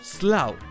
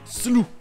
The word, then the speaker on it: slough: Aux États-Unis, ça va se prononcer slough, avec le OU qui se prononce OU comme en français, avec toujours le GH muet.